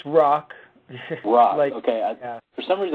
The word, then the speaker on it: Rach: Folly uh Jonathan what ises how do you pronounce your last name exactly it's it's rock rock okay for some reason I was wanting